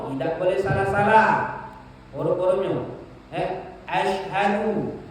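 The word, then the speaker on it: أشهد: boleh salah-salah huruf-hurufnya ya Ashadu syin bukan asadu Ashadu ha Ashadu Bukan asadu bukan asadu Ha Ashadu kalau kita rubah tidak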